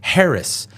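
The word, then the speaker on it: Haracz: search my name and it's spelled just like it sounds Harris h a r a CZ Harris it's polish all my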